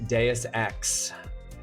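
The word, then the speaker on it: Deus Ex: It's pronounced Deis X. But I do absolutely love the idea of it being like unironically it should be deuce X and I love that that's how you would how you've read it.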